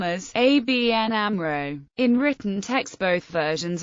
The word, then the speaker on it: ABN AMRO: up the word Amro the letters in ABN are pronounced separately and Amro is pronounced as a word for this reason some media spell the name as ABN Amro in written text both